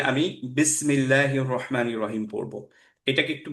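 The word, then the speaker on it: بسم الله: আমি যদি পড়ি বিসি, বিসমিল্লাহি, ইজ it correct? No, বিসি নো। না। হচ্ছে না, কারণ কি কলকলা চলে আসলো, রাইট?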